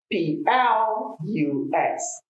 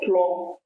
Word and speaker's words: plus: is number three is p l u s plus not plot if you say props you are saying another word like i used to